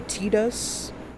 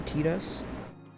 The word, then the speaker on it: Tidus: You mean Final Fantasy X Titus? Or Tidus? Which is the canon pronunciation of his name, because in Japanese it would be Tidus.